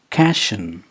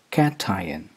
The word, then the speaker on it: cation: t i o n it's not cashion it's cat tie in cation this is a word